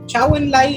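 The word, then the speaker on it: 周恩来: उसके बाद कालांतर में चाओ एन लाइज या चाओ एन लाइज जिसे हम बोलते हैं, चूंकि हमारा प्रोनाउंसिएशन अलग है चीनी नामों के लिए, चाओ एन लाई जो उस समय चीन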